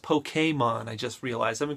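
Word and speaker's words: Pokémon: It's pronounced Pokemon, I just realized.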